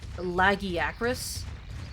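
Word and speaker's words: Lagiacrus: Although apparently, according to Monster Hunter Wilds, apparently it should be pronounced Lagi Acris, which I think is dumb. Like, nobody reads that name and says, "Oh yeah, it's pronounced Laggy Acris."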